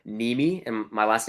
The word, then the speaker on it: Nehme: channel is my name so it's m niemi and my last name is spelled n-e-h-m-e m niemi just search me